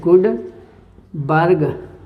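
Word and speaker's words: Guldberg: इसको गुड नहीं पढ़ेंगे, एल साइलेंट रहेगा। यह है ऐसे, गुडबर्ग व वागे, दो साइंटिस्टों ने मिलकर दिया था।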